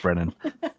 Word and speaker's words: Braonain: time with it and luckily Lucas helped me pronounced Brennan um where did how did you get that